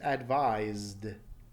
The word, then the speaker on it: advised: you should feel vibration telling you that the past tense is advised advised with that D at the end or that pronunciation and